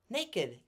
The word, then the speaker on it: naked: it the book naked naked the one of two words in the English language that I know where we pronounce the Ed naked and blessed we